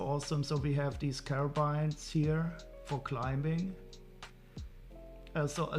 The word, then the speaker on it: carabiner: Carabine. How do you pronounce it? I don't know. We could go to the how to pronounce webpage. Carabin. So it's not carabine, it's carabin. Or so carabin.